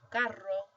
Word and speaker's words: carro: This one would be pronounced carro, whereas this one is caro.